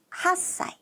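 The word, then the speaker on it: 八歳: 한 살은 이치사이 아니고요. 이사이. 8살은 핫사이.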